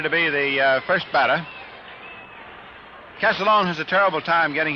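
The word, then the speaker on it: Castiglione: one but the way he says the family pronounce it is calone just like uh o c AA l o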